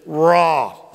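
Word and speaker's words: רע: Let me give you that word for sad, both in verse 1 and it's repeated in verse 2, raw. It is spelled R-A, it is spelled R-A-H.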